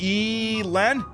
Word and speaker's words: Elon: same page about that it's pronounced Ellen and not e Len yeah I think it's